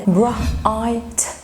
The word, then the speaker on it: bright: bright bright. الجي اتش هنا سايلنت letter.